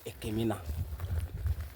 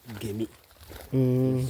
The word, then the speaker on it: Ekemina: So when the German missionary came here in the year 1890, they couldn't pronounce the local name Ekemina. So they can only pronounce it Gemi.